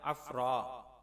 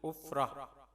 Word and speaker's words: عفرہ: جواب: یہ نام 2 طرح سے ہے، عفرہ یا عفرا۔ عفرہ نام کا صحیح تلفظ عین کے پیش کے ساتھ ہے، یعنی عفرہ۔ اس کا معنی ہے